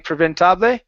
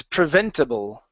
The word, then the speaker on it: preventable: And so, instead of saying preventab, it's preventable.